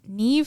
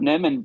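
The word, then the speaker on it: NIMH: I was thinking The Secret of Neve. Is that how you say it? Secret of Nim. The Secret of Nim.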